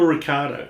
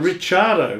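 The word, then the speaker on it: Ricciardo: why does the australian media do that daniel ricardo yeah do you know how you're really supposed to pronounce his name well i'll it'll be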